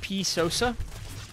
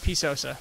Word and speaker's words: PSosa: in the defense from po Sosa and it's P Sosa so I like pies that puss is not good enough P sews all right P Sosa I'm being corrected on my pronunciation which is